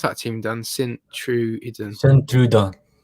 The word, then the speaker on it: Sint-Truiden: How do you pronounce that team, Dan? Sint-Truiden. Sint-Truiden.